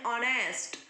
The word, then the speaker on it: honest: उसी तरह एन ऑनेस्ट, ऑनेस्ट का भी स्पेलिंग एच से स्टार्ट होता है लेकिन प्रोनाउंसिएशन होगा एन ऑनेस्ट।